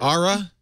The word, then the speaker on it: Ara: kind of UHA mod ARA you say ARA yeah the modular phone